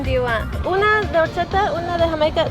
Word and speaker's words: horchata: Agua de horchata with an H. Horchata, H is silent.